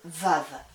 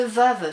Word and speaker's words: Vav: Donc le Vav se prononce quand il est devant un mot, il se prononce V ou il se prononce comme un W.